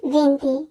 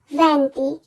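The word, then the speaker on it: venti: না হবে চিচত্ব দিচান ভ্যান্তি আমরা অনেক সময় উচ্চারণ করে থাকি ভেন্তি এটি আসলে ভুল উচ্চারণ আমরা উচ্চারণ করবো ভ্যান্তি ভেন্তুনো অনেকেই 21 কে উচ্চারণ করে ভেন্তিউনো আসলে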